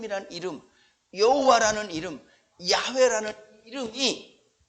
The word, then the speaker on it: 야훼: 발음상 문제의 엄격한 의미에서 더 정확한 발음을 하면 야외 라는 발음이 더 정확한 발음 근데 우리 성경에는 다 여호와 라고 이렇게 번역을 했는데 별로 중요한 차 요와